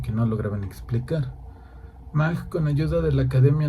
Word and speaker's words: Mach: Como nota, en castellano solemos pronunciarlo Mach. Decimos Mach 1, Mach 2. En inglés suelen decir Mach, pero hasta donde sé lo más correcto es Mach.